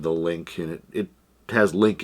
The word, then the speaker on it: LIN-Q: it could be l it's l i n q so it could be lin q uh i've heard some some people pronounce it that way uh and then also i've heard it pronounced link and like i said